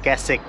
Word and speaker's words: Keswick: We are particularly going to the town of Keswick. It is spells as Kes-wick. But it is pronounce as ''Ke-sik''.